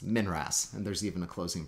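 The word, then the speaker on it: MNRAS: uk and that's the monthly notices of the royal astronomical society pronounced minras and there's even a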